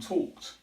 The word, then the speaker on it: talked: say Walker's or talk it but the correct pronunciation is walked and talked now one way we can practice this is